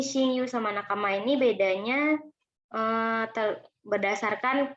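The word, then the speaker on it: 親友: Kemudian di sini juga bacanya pakai yu, yaitu shinyu.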